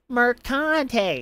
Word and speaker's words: Mercante: It's Mercante. You got to really pronounce the Mercante part.